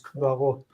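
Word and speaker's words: קברות: The first syllable reduces kvarot.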